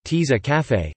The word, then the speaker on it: tasse à café: A tasse à café, French pronunciation, tease à café, coffee cup, is a